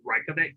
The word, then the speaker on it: Reykjavik: Just so you know, that's Reykjavik in Iceland, in case you wanted to know how to pronounce that.